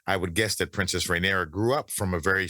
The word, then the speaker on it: Rhaenyra: So I got to get Rhaenyra, yeah.